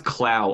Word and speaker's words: Clow: supposed to be pronounced Clo. Are you sure that's just not an accent? No, it's definitely like it's written out in kana as Kuro.